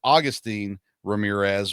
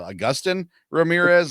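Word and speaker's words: Agustín Ramírez: I would have said it was Augustine Ramirez, but it's not spelled that way. So Augustin Ramirez, I apologize for not knowing his name properly.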